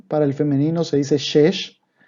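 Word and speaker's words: שש: Para el femenino se dice shesh y para el masculino shisha.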